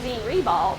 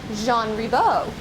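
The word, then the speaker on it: Jean Ribault: So when we say gene rebal when we see it on signs and when we see it uh the school listed but the actual French pronunciation is Jean Rebo.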